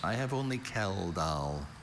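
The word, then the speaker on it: Kjeldahl: Are there any alternative pronunciations? I have only Kell. Kell.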